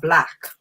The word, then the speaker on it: B.L.A.C: Like, did you pronounce it B.L.A.C or Black? Well, I intend for people to pronounce it B.L.A.C, the acronym, because it stands for Beyond Limitability Experience.